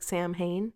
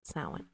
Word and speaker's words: Samhain: Samhain is spelled Samhain, so it looks like Samhain if you ever see that, but it is pronounced Samhain.